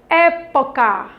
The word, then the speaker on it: época: A palavra época. Época. Qual é a sílaba mais forte? É. Está acentuada, então ela traz uma intensidade maior na palavra.